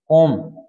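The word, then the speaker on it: comb: उसको क्या बोलते हैं अभी ओम बोलते हैं जैसे बी ओ एम बी बम साइलेंट रहेगा जो छता है और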